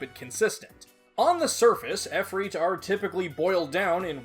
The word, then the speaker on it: Efreet: of the Arabic language, there are multiple spellings and pronunciations for Efreet. You've got Ifrit, Efreet, Afarit, and more. For the sake of this video, I will be using Efreet on the basis that it's the most commonly used name throughout localized Megami Tensei titles.